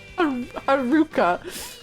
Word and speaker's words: Haruka: Haruka is pronounced to rhyme with bazooka. Haruka.